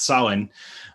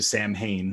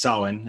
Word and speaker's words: Samhain: the issue it's it's the mh uh becomes a w like sound in irish uh as it's as it's then written with with the an english character set so it's pronounced solon uh as opposed to